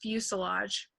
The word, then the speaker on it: fuselage: And then that word in the middle is pronounced fuselage.